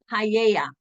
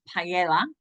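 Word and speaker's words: paella: famous dance um then we have something called paa which a lot of people pronounce Pella it's p AE l l e paa and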